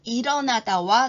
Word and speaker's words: 일어나다: 반대말은 잠을 깨다입니다 이번에는 일어나다와 누워 있다입니다 일어나다 여기서도 리을이 뒤에 있는 이응 자리로 옮겨가서 발음은 일어로 하게 됩니다 일어나다와 반대되는 말은 누워